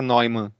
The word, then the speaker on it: Neumann: Um deles aí que eu sempre cito é o John von, eu tenho quase certeza que se pronuncia Neumann.